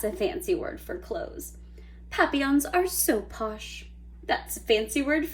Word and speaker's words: papillon: like our neighbor's dog you say it like this papillon and friendship means butterfly